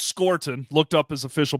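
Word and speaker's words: Scourton: Detroit yeah and uh scorton for me it's scorton looked up his official pronunciation so apologies on the first round there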